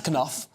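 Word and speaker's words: Knauf: uh Jason Koff um is that how you pronounce ital Canal that's that's Koff hey well he spoke to the Australian Network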